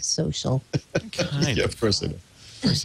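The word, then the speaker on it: So.cl: out something called soal it's social without an i or an A but they still pronounce it social of course they of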